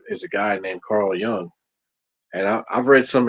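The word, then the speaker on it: Jung: another gentleman called Carl Young and it's not spelled with the Y it's spelled j u n g and it's pronounced young that guy there is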